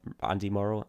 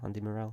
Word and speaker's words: Andy Morrell: yeah God we've had some proper players morale Andy Morrow Andy Murrell Andy Morrell yeah I'm terribly pronouncing names now um and he came back